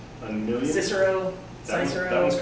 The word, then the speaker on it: Cysero: How many times have you heard someone say Cysero, Like a million? Cicero, Cicero, That one's correct.